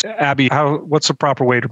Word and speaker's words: Abhi: No, just before we go further, because we had a comment about us butchering names, and I'm not an expert at pronouncing names. Abhi, what's the proper way to pronounce your name for today?